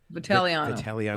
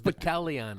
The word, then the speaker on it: Vitagliano: How do you say your last name? Vitaliano. Like Italiano, except it's Vitaliano. There's a G in there, though, right? Silent. It's a silent.